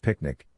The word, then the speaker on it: PQNK: We present PQNK, pronounced Picnic, the regenerative Pristine Organic Farming System.